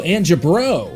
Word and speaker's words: Angebro: Pronounced like Angelo. Oh, so Angebro.